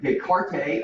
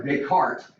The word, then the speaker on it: Descartes: that came up with a little Rule and descarte or Descartes uh is how you kind of pronounce it and so the cartoon rule is